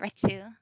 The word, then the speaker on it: Retsu: And then Hunter x Hunter Phantom Rouge is out, and I play Retsu. Or I believe it is pronounced Rets, but they spelled it Retsu.